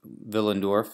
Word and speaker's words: Willendorf: Venus's ve in us Venus and willin villain dwarf is spelled wi ll e ND o RF and